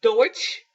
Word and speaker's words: Deutsch: capital the official language is German and it's pronounced Deutsche Deutsche is that's German okay Deutsch what are